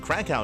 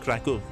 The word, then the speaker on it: Kraków: the main event to the offline event in Krakow and Krakov depending on where you are, depending on your pronunciation.